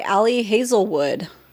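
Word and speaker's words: Ali Hazelwood: Bride by Alli Hazelwood.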